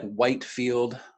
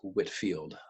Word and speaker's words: Whitefield: us to whitfield so i know it looks like whitefield the pronunciation is whitfield the brits like to do that to us from time to time um whitfield had